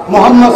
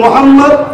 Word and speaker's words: মুহাম্মদ: আপনারা সবাই একবার বলুন মুহাম্মদ সাল্লাল্লাহু আলাইহি ওয়াসাল্লাম, আপনারা উচ্চারণ করুন মুহাম্মদ। খেয়াল করতে কোন নবীর নাম নিলে দুই ঠোঁটে ঠোঁট ঠেকছে, বলুন মুহাম্মদ।